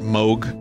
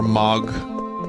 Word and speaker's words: Moog: on a second people pronounce it Moke or MOG I've always said Moog and should go on